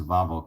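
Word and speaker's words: Wawel: bobble you know W awl which we would pronounce wah wah wah wah wah well castle but but it's a Volvo Castle I'm sure if you search a Volvo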